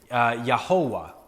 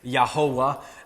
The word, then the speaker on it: Jehovah: consonants of Yahweh, and it made a nonsense word that would be pronounced Yahovah.